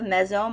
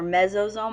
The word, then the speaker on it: mesosome: that will offer protection they also have a mesome or mesosome I've seen it um spelled and pronounced two different ways this is an infolding